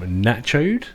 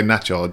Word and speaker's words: Nacho'd: I've got DJ from Nacho'd. It is. Is that how you say it? Yeah, pronounced correct. I didn't want to say it wrong. No. Yeah, at least you didn't say Nacho'd, which is Nacho'd.